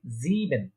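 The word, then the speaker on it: sieben: দেখেন এখানে আই আগে ই পরে, তো আই আগে ই পরে থাকলে ইয়ে, ইয়ে উচ্চারণ হয়। এখানে ছিল ই আগে আই পরে, তাই এটা উচ্চারণ হয়েছে আই। যেহেতু এখানে ই আগে আই পরে, তাই এটা উচ্চারণ হচ্ছে কি ইয়ে। তাহলে এটা কি হচ্ছে জিবেন, 7কে বলা হচ্ছে জিবেন।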